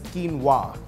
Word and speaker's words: quinoa: Although it's spelled as quinoa, it's pronounced as quinoa.